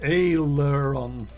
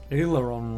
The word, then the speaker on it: aileron: walked all the way it's pronounced ayler on aileron roll aleron aileron you've